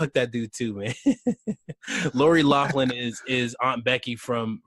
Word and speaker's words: Loughlin: this specifically because Lori is it Lori Loughlin is how you say it little I'm Lori Loughlin I think it's Lachlan their lawful and however